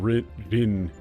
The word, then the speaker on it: Rin: It's just Rin. So it should have been Rin in English, it should have been Rin.